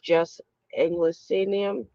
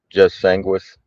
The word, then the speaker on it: jus sanguinis: And the other one is jus anglo senium. How do you say it? Jus sanguinis.